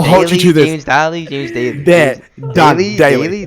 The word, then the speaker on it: Daley: James Daley, James Daley.